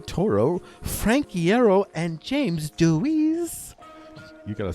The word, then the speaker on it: Dewees: The Teenagers Hitmaker, comprised of brothers Gerald and Mikey Way, Ray Toro, Frank Hierro, and James Deweese. You gotta say it like this, by the way. You gotta say, Deweese.